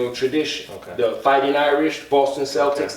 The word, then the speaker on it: Celtic: Because when you study ancient Celtic tradition, or the Irish, tradition, the Fighting Irish, Boston Celtics, they say Celtics, but it's actually pronounced Celtic.